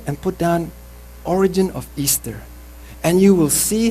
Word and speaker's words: Ishtar: Ishtar, which is pronounced Easter, of the Assyria, was worshipped in pagan antiquity during her special festival.